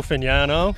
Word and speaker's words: Fignano: I'll go with he told us last week, we're gonna get it right, Joe Fignano is how he pronounces it, I guess. And the Italian pronunciation.